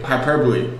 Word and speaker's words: hyperbole: burped wasn't cool type herbal hyperbole hyperbole hyperbole hyperbole it's preferable exaggerated statements brought her believe it's pronounced hyperbole its presentable I believe agent Bo